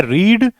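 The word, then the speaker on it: read: दूसरी सिचुएशन क्या है रीड रेड रेड हालांकि इसकी स्पेलिंग सेम रहती है दोस्तों बिट्टू और B3 की वी1 वी2 वी3 तीनों की स्पेलिंग सेम रहती है लेकिन उच्चारण अलग होता है रीड रेड रेड और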